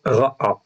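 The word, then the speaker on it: רעע: On a vu le mot ra'a, en fait, ici, qui, lui, est un verbe, donc resh aïn, et le aïn, en fait, est doublé à la fin. Donc, ça se prononce ra'a.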